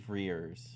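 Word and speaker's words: Frears: Freers. I keep wanting to say Fears, but there's an R in there.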